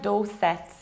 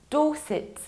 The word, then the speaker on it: Dorset: This one is pronounced not like Dorset. It's Dorset, you need to reduce the ending. Dorset, Dorset.